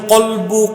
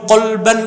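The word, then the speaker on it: قلب: বদরুদ্দীন আইনি উমদাতুল কারিতে লেখেন, সুমিয়াল কলবু কলবান লিতাকাল্লুবিহি। কলবকে কলব, এটা উচ্চারণটা কি? কলব। অনেক মৌলবী সাহেব কি শুনি বলে কালব। কালব মানে কুত্তা। অর্থগত পার্থক্য হয়ে যায়, উচ্চারণটা কি হবে? কলব।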